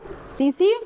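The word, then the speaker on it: tsetse: सीसी मक्खी क्या है सीसी flies may बी T silent हो टेस्टिस फ्लाई देखो एक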